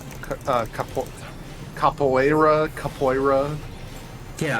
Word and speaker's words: capoeira: that's pronounced a couple capoeira capoeira yeah I always thought it was capillera or something similar more similar to that but it's technically cap away rub because it's Brazilian it's Portuguese you call that a